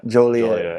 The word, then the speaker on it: Joliet: Joliet.